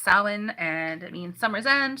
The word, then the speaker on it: Samhain: It's spelled Samhain, but it's pronounced Samhain, and it means summer's end.